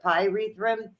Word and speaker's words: pyrethrum: The PYRE, the pyrethrum, it burns off. Pyre like a fire.